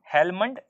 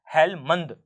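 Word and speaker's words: Helmand: दिखाई देगा हेलमंड river हेलमंड या हेलमंद दोनों ही है मैं स्पेलिंग आपको बता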